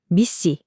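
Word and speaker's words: MECE: 바로 미시 미시라고 읽는 원칙인데요.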